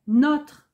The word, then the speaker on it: notre: n'ont pas d'accent circonflexe et si vous avez bien écouté la prononciation est différente je reprends notre appartement le nôtre votre appartement le vôtre adjectif possessif c'est notre le pronom c'est le nôtre alors que les adjectifs